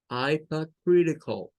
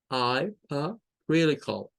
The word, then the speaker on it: hypocritical: Entonces, esto suena, no suena a cal, como nosotros lo diríamos aquí, con un sonido de A, sino que suena como cool, cool. Hypocritical, hypocritical, hypocritical, hypocritical.